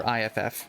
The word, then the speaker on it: iff: It's pronounced if. I do just say if, because it's just so much easier.